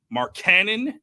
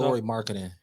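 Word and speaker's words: Lauri Markkanen: It's not Mark Cannon. Mark Cannon, isn't that his last name? Not Mark Cannon. How do you pronounce it then? Keep going. No, you're not going to give me a name. I'm just saying that's not how you pronounce it, He's but how go you ahead. pronounce his last name. Who? Laurie Mark Cannon from Utah. Laurie Marketing. There it is.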